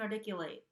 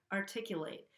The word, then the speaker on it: articulate: I'm not saying articulate where I'm flapping the T. I'm saying it as a regular T here, articulate.